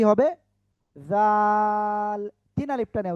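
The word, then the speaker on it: ذال: জাল তিন আলিফটা নিয়ে উচ্চারণ করতে হবে।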